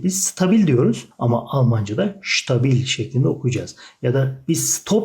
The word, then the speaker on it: stabil: ST başta olduğu zaman S harfini Ş şeklinde okunur. Stuttgart mesela, Stuttgart. Ya da stabil, stabil, istikrarlı, sağlam demek. Stabil, biz stabil diyoruz ama Almanca'da stabil şeklinde okuyacağız.